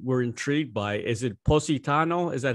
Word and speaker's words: Positano: one place we were intrigued by is it positano is that how you say it yes what